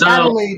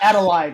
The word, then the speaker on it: Adelaide: Uh, anyway, it's Adelaide, not Adelide, right?